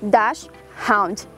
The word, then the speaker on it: Dachshund: ser pronunciados né ou inclusive a pronúncia correta é das round não é das mais fáceis